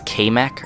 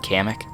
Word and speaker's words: Kamek: getting PD piranha kamek which I said is kmac or I think I said kmac which is kind of odd because I've always said kamik so this is the the one time I will mispronounce a uh a Mario enemy or Mario character even he's